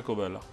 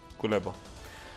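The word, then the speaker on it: Кулеба: हैं जिनका नाम है कोबेला। मैं सही तरह से अगर प्रोनाउंस कर रहा हूँ उनके नाम को, थोड़ा सा गलत ना हो चला जाए, जस्ट 1 सेकेंड। उनका नाम जो है वो है कुलेबा।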